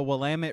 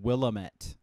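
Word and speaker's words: Willamette: did you know that the wamit river is actually supposed to be pronounced willamet it actually that it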